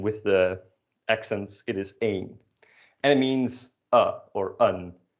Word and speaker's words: één: The indefinite article, un. So repeat that for me, un. You might notice that this is spelled the same way as the number 1, which is pronounced as één, and they are pronounced differently.